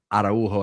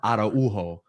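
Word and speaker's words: Araújo: we'll see Kunde at right back, Araujo at center back, like we typically see in the Liga.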